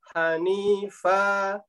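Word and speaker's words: حنيفا: Ini kurang panjang, Ustaz, kalau membacanya Ampun. tafkeh. Hanifa, nifa, ni dengan fa sama-sama dua harokat.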